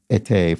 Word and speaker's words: été: Boy, I had a quite a terrible French mispronunciation in yesterday's puzzle when I pronounced été for summer as et. That was, I don't know